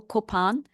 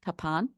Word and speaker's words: Kopan: This is perched, this is the hill, Kopan. Sometimes it's spelled K-A for apple, P for Peter, A-N, Kapan. You'll see that when you go there. They call it Kapan, but us Indies call it Kopan.